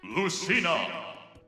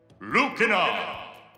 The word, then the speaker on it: Lucina: a nice segue there are four characters that have the same name in the japanese and english versions of the game but are pronounced differently by the announcer lucina lucina simon shimon this is obviously because things are pronounced differently in different languages i just think it's